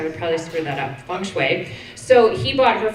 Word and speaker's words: Feng Shui: We have to say it right, Feng Shui. She even spelled it out for me, so I say it the right way, because I would probably screw that up, Feng Shui.